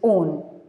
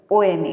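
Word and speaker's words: -one: Next is ketone, whose functional group is C double bond O, and the suffix used is on, O-N-A. It's not one, it's on.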